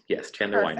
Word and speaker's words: Chandler Weiner: Chandler Weiner, am I saying it right? Yes, Chandler Weiner.